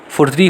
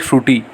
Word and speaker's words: SFURTI: यू कैन not call it फ्रूटी, इट इज़ नॉट फ्रूटी, इट्स फुर्ती अगर एस को silent रखा तो।